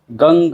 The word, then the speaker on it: गं: हो गण के आदि अर्थात ग कर पहले उच्चारण करें उसके बाद वर्णों के आदि अर्थात अ उच्चारण करें उसके बाद अनुस्वार उच्चारित होता है इस प्रकार अर्ध चंद्र